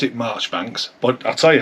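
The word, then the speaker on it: Marjoribanks: It was actually, I think you pronounced it Marchbanks, but I'll tell you how it was spelled. It was spelled Campbell. His name was Campbell Major Ibanks, but you say Marchbanks.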